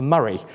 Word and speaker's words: Moray: He previously led the SNP in Westminster when he was the MP for Murray, though it's spelt like Moray, and that's good enough for me.